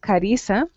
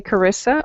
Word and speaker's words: Carissa: here in central america my name is pronounced carissa so if you say karissa or carissa that was it's just fine i'll answer okay very